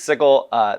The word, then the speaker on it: Sigil: Much to the dismay of everyone who pronounces it the other way. It is Sigil.